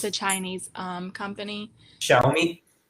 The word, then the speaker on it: Xiaomi: And then not really sure how to pronounce this word. It's a Chinese company. Xiaomi. Xiaomi.